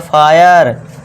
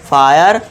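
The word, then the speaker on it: fire: आई के बाद आर ई आ रहा है, हाँ आ रहा है, तो देखिए एफ के लिए फा कर दिया, आ का साउंड या का साउंड लगा दिया, आई का हो गया। अब आर के लिए र कर दिया, बस ये हो गया फायर, वायर, फायर, वायर।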